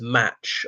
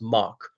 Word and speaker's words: Mach: among my class, and reading as match or march because it's pronounced Mark.